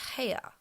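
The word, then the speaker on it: Haigha: does them when he's happy his name is heya he pronounced it so as to rhyme with maya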